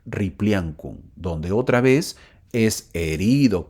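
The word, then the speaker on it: Ripliancum: a las aguas de ripli ancun así se pronuncia ripli ancun donde otra vez es herido kantur este hombre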